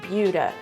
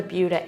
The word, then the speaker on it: Buda: Next stop on our tour of suburbs around Austin, we're going to Buda. Yes, it's pronounced with a Y, like B-Y-O-O-D-A instead of Buda, B-O-O-D-A, because that's the way it is.